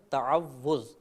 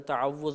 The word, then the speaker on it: تعوذ: مبتلا ہو جاتی ہے۔ صحیح لفظ ہے تعوذ، تفعل کے وزن پر۔